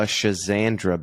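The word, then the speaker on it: Schisandra: And a different conversation that I heard you have recently, you mentioned a Schizandra berry. I may be saying that. Be saying that wrong, but no, that is a correct pronunciation.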